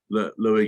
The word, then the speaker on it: Louis: And is it Lewis or Louis? How do you pronounce it? It's Louis.